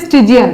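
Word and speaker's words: Stygian: আর স্টিজিয়ান, উচ্চারণ হচ্ছে স্টিজিয়ান, অ্যাডিটিভ।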